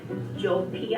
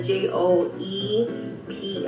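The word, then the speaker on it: Joepii: plant is the filad jopi I think that's how you pronounce it ji it's the j o e p i i the Joe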